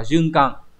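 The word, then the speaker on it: 循環: Từ số 4 là tuần hoàn, hán tự là chữ tuần, chữ hoàn đọc là junkan, là gì nhỉ, là cái việc mà lặp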